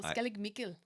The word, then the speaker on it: Skellig Michael: But you have to say it like the Irish people, Skellig Michael.